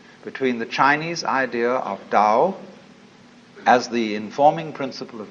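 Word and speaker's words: 道: the da ta AO pronounced Dao in the Mandarin dialect Tao in the changhai dialect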